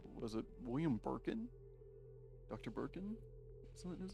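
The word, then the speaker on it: Birkin: Oh, I mispronounced his name. I said Burkham, not Burkin. Okay. Yeah. William Burkin.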